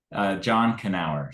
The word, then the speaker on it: Knauer: John Knauer. So we do pronounce the K.